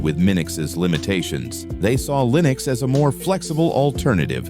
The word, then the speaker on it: Linux: The name stuck, though pronunciation debates continue. Torvalds himself says Linux.